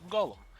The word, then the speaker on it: Golem: this to referred by the last bit which is of course Golem much to his surprise this ends up being being pronounced like golum anyways on a side